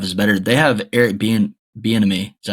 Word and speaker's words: Bieniemy: They have Eric Bieniemy.